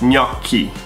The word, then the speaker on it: gnocchi: Yeah, most people would say gnocchi. Really? So again, GN is gn. So gnocchi, double C and CH, which is k. So it's gnocchi.